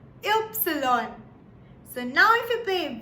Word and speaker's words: Ypsilon: Now, Y in German is pronounced as Ypsilon. Ypsilon.